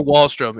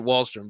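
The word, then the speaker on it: Wahlstrom: how do you say his name is oliver wallstrom in that it's a keeper dynasty lee get wallstrom bro he's how do you spell his name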